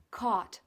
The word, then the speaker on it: caught: caught, se pronuncia simplemente así, caught, sin rastro de la G.